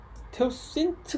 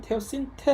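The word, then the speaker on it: teosinte: 가 원래 야생 어 태워 씬 태워 세인츠 가 아니라 원래 테우 스 인테 라고 발음을 해야 되는데요 음 그래서 이 원래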